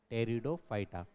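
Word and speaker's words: Pteridophyta: सबसे पहला point टेरिडोफाइटा spelling देखेंगे तो पी टी ई आर आई डी ओ पी एच वाई टी ए टेरिडोफाइटा प silent है इसमें टेरिडोफाइटा शब्द साथ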